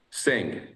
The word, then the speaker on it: Singh: Sing. Oh, so the H is silent.